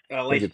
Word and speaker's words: Litsky: I might be saying that incorrectly. Junior, I got that one right, or is it pronounced different than that? Litsky, yeah.